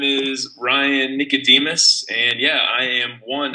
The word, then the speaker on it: Ryan Nicodemus: hello hello how are you my name is Ryan Nicodemus and yeah I am one of the minimalists